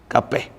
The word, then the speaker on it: Kapeh: Kapas. Kapeh. Sana pronunciation dia Kapeh, kampung Kapeh.